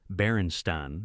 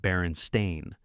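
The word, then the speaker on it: Berenstain: The consistency of the false memory extends to pronunciation, with most people reporting they said Baronstein as children. This pronunciation pattern doesn't match the actual Baronstein spelling, which would typically be pronounced Baron Stain.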